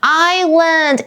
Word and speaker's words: island: 我们住在这个城市的海岸附近，所以经常去钓鱼。再来，我刚刚有提醒大家要特别注意它的发音，这个字就是 island， s 不发音哦，就是岛屿，它是一个名词。We took a boat to a small island and spent the day playing on the beach.